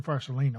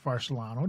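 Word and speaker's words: Farsalinos: And I brought her another one from Dr. Farsolino or Farsolano, depending on how you want to pronounce his name, on a study that he wrote a paper on where they interviewed 19,000 vapors.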